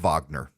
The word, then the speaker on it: Wagner: the head of the Vagner group Wagner it it's spelled like Wagner it's pronounced Vagner it's a mercenary company